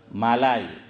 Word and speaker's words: ملائی: میں ہوتی ہیں ملائی، ہم ملائی بولتے ہیں، حافظ امتیاز، لیکن اردو میں صحیح تلفظ ہے ہاں مالائی۔ حضرت فرماتے تھے کہ